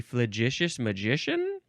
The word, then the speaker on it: flagitious: I think that's how you say it a fous magician it's an adjective from The 14th Century marked